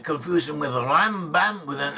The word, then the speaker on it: Rambam: Nachmanides, also known as Ramban, should not confuse him with Rambam with an M. Rambam is Maimonides, and Ramban with an N is Nachmanides.